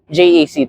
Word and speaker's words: JAC: thank you to everyone who said the proper pronunciation of the brand is jackn jaac to avoid confusion with another brand that almost